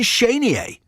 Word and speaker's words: Chenier: Well, the Cajuns would say Chenier, but many Americans say Chenier, but I would say Clifton Chenier.